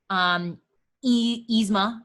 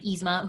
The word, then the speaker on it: Yzma: Dopey, Scar, Stitch, Dory, Yzma, I believe is how you say her name, Yzma, who is the like evil queen in The Emperor's New Groove.